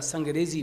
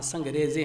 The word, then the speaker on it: سنگریزے: جیسے آپ نے ایک جگہ سنگریزی پڑھا، وہاں سنگریزے ہیں.